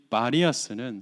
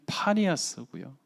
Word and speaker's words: 파니아스: 따라서 이 바니아스는 사실은 파니아스고요. 피 발음을 하지 못하는 아랍 사람들 때문에 바니아스로 알려진 도시, 사실은 사람들을 겁탈하고 요종들을 성추행하는 판이라는 신의 도시.